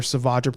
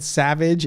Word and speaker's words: Savage: There's a scene where, and the figure just came out actually for Savage Press. Man Collects, you said his name wrong. You said Savage, it's Savage.